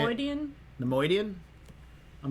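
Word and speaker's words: Neimoidian: Nemoidian? Nemoidian? I'm not looking at their names, so how do we spell that so that I don't keep fucking it up? Like Leonard Nimoy?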